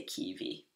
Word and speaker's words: kiwi: Keep in mind that in Norwegian, W is pronounced like a V. We call it W, double V, and it's just pronounced like a V. So we say kiwi.